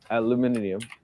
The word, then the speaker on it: aluminium: Aluminium. It's aluminum. No, just aluminium. Aluminium. If you, I mean, write the word out and check the letters. It definitely says aluminium.